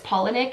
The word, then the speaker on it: Palahniuk: And I feel like I'm finally saying his name right because I've butchered his name in every other video I've done. Someone pointed out to me that it's Palahniuk, and I hope I'm still saying it right. I might still be saying it wrong.